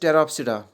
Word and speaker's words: Pteropsida: और number 4 and last type that is टेरोप्सिडा। इसमें भी पी साइलेंट रहता है, PTEROPSIDA, टेरोप्सिडा।